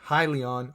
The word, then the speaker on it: Hyliion: with ticker symbol h-y-l-n helion holdings corp or if you wanna pronounce it as hylion holdings corp also known